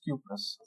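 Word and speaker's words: cuprous: यही स्पेलिंग है सी यू पी आर ओ यू एस आर सी यू पी आर ओ यू एस क्यूपस और ये Cu2 positive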